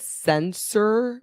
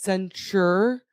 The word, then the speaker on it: censure: I said sensor, but it's censure. Censure. Sensor. Not censure. Not sensor. Censure.